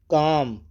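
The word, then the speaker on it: calm: बोलते हैं काफ बछड़ा पिंडली दूसरी माने पिंडली काम काम में जो है एल साइलेंट रहेगा काम काम पुर सुकून खामोश काम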